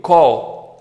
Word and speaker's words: call: significados fala assim comigo Call eu sei que você tá vendo um a aqui mas pensa que isso aqui é um o que vai ficar mais fácil você pronunciar corretamente é chamar também pode